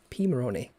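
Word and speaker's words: Pimoroni: there we go interestingly even though the name starts with pi we actually pronounce it p p moroney yeah you do don't you i noticed that p maroney i see pymoroni pimaroni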